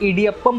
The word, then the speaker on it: Idiyappam: सो इसे इडियप्पम प्रोनाउंस किया जाता है और इट्स लाइक वर्मसेली नूडल्स की तरह ही दिखता है।